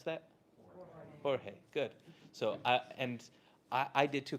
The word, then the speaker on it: Jorge: You know how to pronounce that? Jorge. Good. So I did too, because I'm from Southern California, and he was surprised when I opened the door and I said Jorge, and he was like, he gets it, and